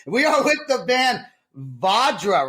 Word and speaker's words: Vajra: change it up we are with the band vadra right that's how you say it that's it